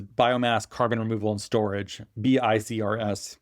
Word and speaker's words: BiCRS: BiCRS, pronounced BiCRS, is the category that graphite falls into.